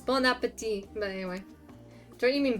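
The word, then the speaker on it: bon appétit: an undisclosed tropical paradise that's not how you say it um bony appetite appetite pony appetite it's bon appetit but anyway don't you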